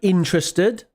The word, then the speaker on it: interested: curious then we have interested now with the pronunciation for that do notice that the stress notice the stress interested it's on the first syllable interested not interested okay